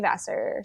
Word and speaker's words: Vassar: SS a r because I am just shave Vasser so yeah that's it hell yeah and you